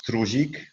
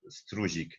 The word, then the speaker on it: Struzik: In Poland it's Struzik, in German it's spelled Struzik. In the polish seminars all people say to me original Struzik.